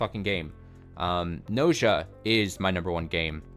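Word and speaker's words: Gnosia: um and that is NOA NOA I don't think it's ganosa but it's spelled ganosa g n o s i a uh it is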